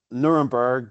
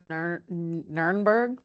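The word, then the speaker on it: Nürnberg: town, which is we mostly call it uh Nuremberg, but it's pronounced Ner Nerburgg.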